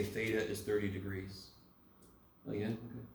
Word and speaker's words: theta: Does anyone know how to pronounce this Greek letter? Theta.